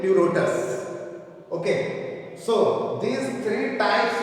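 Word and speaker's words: Pleurotus: is uh Lotus this p is silent and pronounced as Lotus okay so these three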